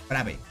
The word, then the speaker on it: Brave: Brave. Así se escribe, Brave.